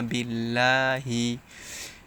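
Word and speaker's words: بالله: মাই ইয়াকুলু আমান্না বিল্লাহি। এখানে আল্লাহ শব্দের লামের পূর্বে জের আসছে, তাই লা উচ্চারণ হয়েছে।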